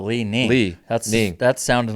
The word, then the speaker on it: Li-Ning: Leaning? L-I-capital N. Lee. I-N-G. Oh, Lee Ning.